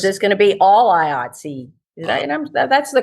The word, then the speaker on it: IATSE: Or is this going to be all IATSE? That's the correct pronunciation of that acronym, right?